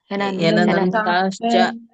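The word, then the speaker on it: ಹ್ಯನಂತಾಶ್ಚ: ವ್ಯವಸಾಯಿನ ಹರಕೃಷ್ಣನಂತಹ ಅಲ್ವ ಮಾತಾಜಿ ಮತ್ತೆ ನಂತಾಶ್ಚ ಹಚ್ಚಬೇಡಿ ಹೆನಂತಾಶ್ಚ ಅಷ್ಟೇ ಹೇಳಿ ಹೆನಂತಾಶ್ಚ ಅನಂತಾಶ್ಚ ಅಷ್ಟೇ ಹೇಳಿ ಹೆನಂತಾಶ್ಚ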